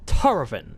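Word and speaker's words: Tahrovin: And the Dover translation is Tarovin. It is spelled T-A-H-R-O-V-I-N.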